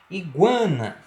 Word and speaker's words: iguana: Iguana, ó, mesmo caso aí de pronúncia, guan.